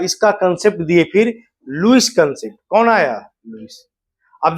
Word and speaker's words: Lewis: तो तीसरा कंसेप्ट आपको पढ़ना है लुईस कंसेप्ट। लिखते हैं लेविस कंसेप्ट, है ना? इसको उच्चारण करते हैं हिंदी में लुईस concept of acid and base.